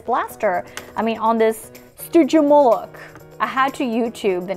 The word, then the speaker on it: Stygimoloch: I mean, on this Stygimoloch. I had to YouTube the name because I couldn't pronounce it. It's called a Stygimoloch and it has a little dinosaur with a